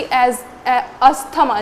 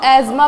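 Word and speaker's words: asthma: जैसे कि अस्थमा जिसको एजमा प्रोनाउंस करते हैं लेकिन हम अपने आसपास में अस्थमा बोलते हैं तो मैं अस्थमा ही बोल रही हूं।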